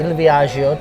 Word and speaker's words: Il Viaggio: We're at Il Viaggio tonight, as it's properly pronounced, which is the premium Italian restaurant.